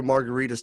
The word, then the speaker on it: Margaritis: I've told you J my last name is pronounced like a cocktail but it's really spelled like an inflammation it's like it should